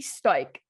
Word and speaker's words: Stoic: The Daily Stoic, DAILY space STOIC by Ryan Holiday. The Daily Stoics. Stoic. STOIKE. No, STOIC. Okay. CE is there, but the pronunciation is stoic.